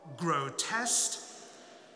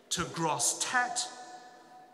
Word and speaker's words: Grosseteste: far as I'm concerned there is no official pronunciation of his name it may come as no surprise to you that nobody today speaks his native anglo-norman language as a mother tongue so you have a choice of so-called official pronunciations from gros test - gross tat - gross a tester you may have already